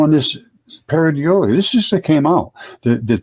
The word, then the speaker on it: pareidolia: There's even a word for this phenomena, pareidolia, pronounced pareidolia.